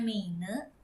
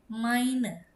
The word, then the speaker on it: meine: Jadi ini bukan meine ya teman-teman walaupun tulisannya meine tapi dibacanya jadi mine.